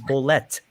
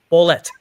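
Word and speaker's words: Bolet: was to, you know, some people say George Ble and he was like, "No, no, no, no, no. His name is Blet." Blet or Jorge. Yeah. George. It's George, not Jorge. George Blet.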